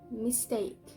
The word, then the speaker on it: mistake: e in a syllable for example is mistake mistake so the stressed syllable is take mistake and the other example